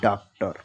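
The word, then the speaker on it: doctor: एस ओ N lesson आपने देखा कि लास्ट में ओ एन या ओ आर है लेकिन जो हम ओ को पढ़ते हैं वो छोटा आ से पढ़ते हैं। आपको इतना ध्यान रखना है।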